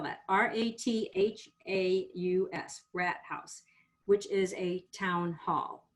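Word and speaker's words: Rathaus: um it's a very pretty it's called a rat house let me spell that r-a-t-h-a-u-s rat house which is a town hall which i find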